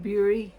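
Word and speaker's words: Bura: Bury Mitchell. His name was spelled B-U-R-A, but everybody pronounced it Bury.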